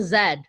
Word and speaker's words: zed: why we hit the zed or the z sorry we call it zed in canada we don't pronounce it z oh yeah so we